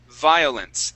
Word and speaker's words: violence: You're starting off with a oo sound. Okay, what you want to do is you want to put your top teeth, these right here, on top of your bottom lip.